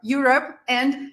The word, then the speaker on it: European: Europe and European now European is difficult because everyone says this word incorrectly because of the wrong stress so it's not European it's not something else it's European so European European European all right awesome well